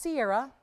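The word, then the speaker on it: Ceará: It's pronounced Sierra, spelled differently than the singer.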